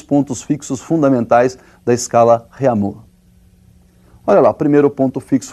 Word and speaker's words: Réaumur: é a escala Réaumur, que nós vamos pronunciar Réaumur, né, que é aportuguesado de novo, né, e essa escala